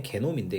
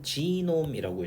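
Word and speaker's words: genome: 자, 참고로 한국어로 표현할 땐 게놈인데 이게 독일어인가 그래서 발음할 땐 지놈이라고 읽어요.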